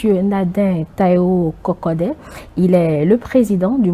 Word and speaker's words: Kokodé: Nadin Taïwo Kokode. Il est le président du mouvement Encore. Monsieur Kokode, bonjour.